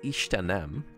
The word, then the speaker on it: Istenem: Okay, so it's Istenem. That's the stroke is not on the second E, and it means my God, oh God.